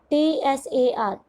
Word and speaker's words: Tsar: TSAR, T is silent here, the pronunciation is Tsar, ज के नीचे बिंदी, ज़ार निकोलस II.